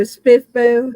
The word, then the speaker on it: SPFBO: experience with with uh how how is it pronounced SP spiffo oh spiffo yeah I didn't know how to do it